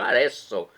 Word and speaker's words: Arezzo: Muitos falam Arezzo, né? Mas o Z em italiano pronuncia-se com um S, né? Então Arezzo, na Itália.